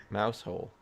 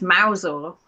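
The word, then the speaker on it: Mousehole: Mouse hole. Yeah, you think, wouldn't you? No, it's Mousel. Even I think that's dumb, but I think we just do it to weed out the foreigners. I mean, Mousel actually makes a little bit of sense.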